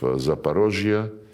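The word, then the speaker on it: Zaporozhye: when we now liberate remaining parts of Zaparosia. This is the Russian way to pronounce it.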